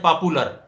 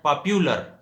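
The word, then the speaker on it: popular: مثلا ایک ورڈ ہم کہتے ہیں پاپولر، جہاں یو ہے پاپولر ہم واؤ پروناؤنس کرتے ہیں. اس کو صحیح پروناؤنس اس طرح کرنا ہے پاپیولر، یو پروناؤنس کرنا ہے، پاپولر نہیں بلکہ صحیح تلفظ ہے پاپیولر.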